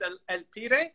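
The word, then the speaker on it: El Pibe: this game i didn't know his name was el pire is that how you say it yeah it's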